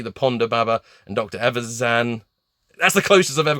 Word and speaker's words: Evazan: Evazan.